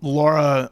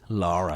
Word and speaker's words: Lara: for the first time laura sorry lara lara she's british it's a lara you can't just be laura and that's spell that's